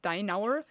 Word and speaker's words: Steinauer: So the surname is pronounced Steinauer, but it would be Steinhauer, and that's what he's doing.